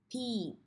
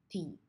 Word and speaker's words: Pete: The E at the end does not make a sound, so we don't sound it out. So let's read it. Pete.